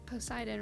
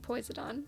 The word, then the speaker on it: Poseidon: So, there's Poseidon, right? I pronounced it poisoned.